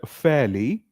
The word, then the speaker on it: fairly: just because of this R is silent we don't pronounce R so we say fairly